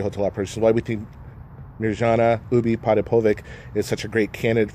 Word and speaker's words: Mirjana Ubiparipovic: So Mirjana Ubi Potapovic. So it's kind of like Maury Povich.